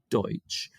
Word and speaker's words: Deutsch: they call it but it's not really Dutch it's Pennsylvania Deutsch and people have just mispronounced deuts it's Deutch uh so Pennsylvania they